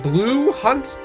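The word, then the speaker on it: Blu Hunt: But like the main character of this movie is uh Danny Moonar who is played by um I think it's pronounced Blue Hunt, but she's build fifth for some reason.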